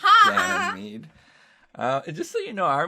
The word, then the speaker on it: Ganymede: Yes, it's Ganymede.